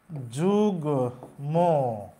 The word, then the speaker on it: যুগ্ম: যেরকম আমি যদি লিখি এই শব্দটি তাহলে উচ্চারণ লিখতে হবে যুগ্ম, এই যে গয়ের সাথে ম যুক্ত থাকলে ময়ের উচ্চারণ হবে।